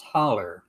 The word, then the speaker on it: hollow: Uh it's spelled hollow, but it's pronounced holler, just so you know.